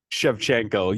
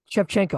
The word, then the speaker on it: Shevchenko: Valentina you're doing great no chefchenko you were here chefchenko I won't mess it up again chefchenko you got it once um so Valentina shevchenko